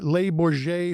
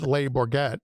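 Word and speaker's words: Le Bourget: So he lands at, labor J field. I had to, ask Norb, how to pronounce that because, you know, I'm from sandwich, and we call it labor get, you know, so we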